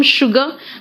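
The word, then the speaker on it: sugar: सिर्फ पूरे इंग्लिश में सिर्फ एक शब्द है जहां पे एस यू है लेकिन प्रोनाउंसिएशन शू हो रहा है, शुगर।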